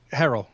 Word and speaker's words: Herrell: Herrell.